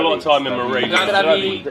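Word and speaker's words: Na zdraví: Nastravi. The Nastravi. emphasis is always on the first syllable.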